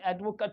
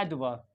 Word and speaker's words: advocate: जो प्रोनंसिएशन होता है इसके अंदर ये जो एडी होता है इसको ऐड पढ़ते हैं क्या पढ़ते हैं ऐड ऐड ड इसको अड नहीं पढ़ते ड क्या पढ़ते ड और ये जो वीओ होता है वीओ एक्चुअल में ये वी ओ जो होता है ये साउंड लाइक वा यहां पे बहुत ही जल्दी पढ़ते हैं इसको यानी ये शुआ हो जाता है इसको भी जल्दी पढ़ते हैं एडवा एडवा एडवा एडवर्ब और